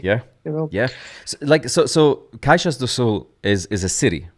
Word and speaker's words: Caxias do Sul: So Caixas do Sul is a city, right? yeah, Caxias do Sul, yes. Caxias do Sul. I need to pronounce it Yeah, correctly.